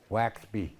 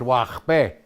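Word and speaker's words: waxbe: I said, "Oh, what the heck is a Waxby?" Me too. I'm dumb, huh? You know. But it's Wachbe in the Wachbe. So that Okay. X is that sound, right?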